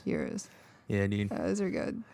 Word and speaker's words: gyros: uh oh yeah yeah i used to call them gyros so i get confused but the real pronunciation euros yeah dude those are